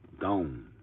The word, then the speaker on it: gon: You pronounce that gone. Not going to be, not gonna be, gone.